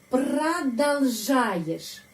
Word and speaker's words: продолжаешь: Terus, ты продолжаешь. Kenapa huruf O? Di sini banyak huruf O, ya. 1, 2 huruf O, tapi bacanya A. Kenapa? Karena penekanan di sini pada huruf A.